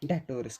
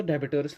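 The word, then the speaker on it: debtors: यहाँ पर तो डेबिटोर्स लिखा हुआ है लेकिन यहाँ पर भी जो है ये साइलेंट रहता है। क्या रहता है? साइलेंट, इसलिए उनको बोलते हैं डेटोर्स।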